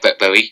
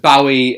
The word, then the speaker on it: Bowie: a impression of david bowie yes and do i say his name properly i keep saying it some people say bowie uh it's bowie um but yeah that